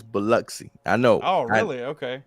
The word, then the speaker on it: Biloxi: it i never know uh but uh it's biloxi i know oh really okay yes i don't know why the og are you it's mississippi we'll just go with it but uh yeah it's cool it's pronounced biloxi you get you getting into uh you getting